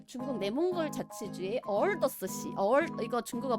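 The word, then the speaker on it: 鄂尔多斯市: 네, 중국 내몽골 자치주의 어얼더스시. 이거 중국어 발음 성조 몰라요. 오르도스라고 영어로는 표기를 하는데 어얼더스래요.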